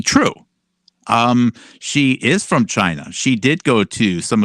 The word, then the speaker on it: Qiu: his left couple to his left is dr chi which is spelled qiu and dr chi uh attained no